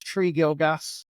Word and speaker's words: Tregilgas: name is m gilgas it's pronounced tree gilgas and as I said